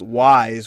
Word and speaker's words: Wwise: My non-existent business degree, and so that is pretty good because really FMOD and another program called WISE, which is spelled WWISE, are kind of the two main sort of like audio suites for developers right now that they can use.